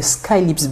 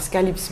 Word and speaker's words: Skahlips: C'est ce qu'on va retenir avec Skylips Bar.